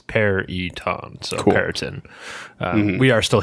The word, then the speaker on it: Peryton: Well, maybe not emphasis, but like it's a hard E.